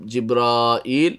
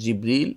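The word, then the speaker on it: جبريل: তবে জিবরিল বা জাব্রাইল আর জিব্রাইল এভাবে বর্ণনাটা খুব শুদ্ধ নয়, এটা আমাদের দেশে খুব প্রচলিত জিব্রাইল। তবে সদর জিবরিল অথবা জাবরিল অথবা জাব্রাইল, কিন্তু জিব্রাইলটা বেশি শুদ্ধ নয়, তবে সেটা আমাদের দেশে প্রচলিত আছে।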